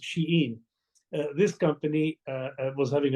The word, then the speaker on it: Shein: Another one totally different is a global company called Shien or Shane or however you pronounce it and uh but it's pronounced sheen.